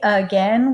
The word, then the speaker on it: again: again because we spell we say again with that uh or kind of a schwa sound at the beginning but it begins with the letter A so this is where